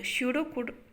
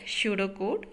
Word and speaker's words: pseudocode: So similarly we are representing the problem in the pseudocode. pseudocode-ல P வந்து silent, அதனால தான் அதை என்ன ப்ரொனவுன்ஸ் பண்ணுறோம், pseudocode-ன்னு சொல்லி ப்ரொனவுன்ஸ் பண்ணுறோம்.